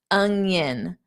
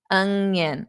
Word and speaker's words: onion: So, you take that sound. Yin. And then it's a yin. Yin and yang. Yin and yang. It's yin. Onion. Onion. I hear a lot of weird pronunciations.